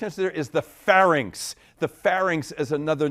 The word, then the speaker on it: pharynx: middle ear with this P initial part of your body that is also known as the throat and rhymes with larynx I'm saying shaking heads over there correct answer there is the pharynx the pharynx is another